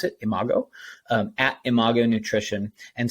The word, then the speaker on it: Imago: find us on social media we are at Imago nutrition again I am a g o and yes that's how you pronounce it Imago um at Imago nutrition and so as always